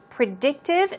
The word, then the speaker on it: predictive: Predictive, stress goes on the second syllable.